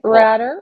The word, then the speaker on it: Ratter: Henry Ratter, rhymes with ladder.